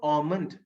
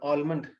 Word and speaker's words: almond: சோ ஆமண்ட், நம்ம ஊர்ல ஆல்மண்ட். சோ ஆமண்ட், L silent.